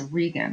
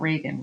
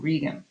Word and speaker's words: Regan: And you might even be so unfortunate as to hear another teacher pronounce it wrong. It is Gloucester, and that's Regan, not Reagan, Regan.